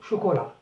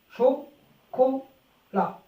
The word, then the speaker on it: chocolat: Célia mange un gâteau au chocolat.